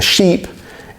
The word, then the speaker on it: sheep: big boat, and a sheep is an animal that goes bear. And those two words obviously sound quite different in English. Now, ship has that short I sound, sheep has the longer E sound.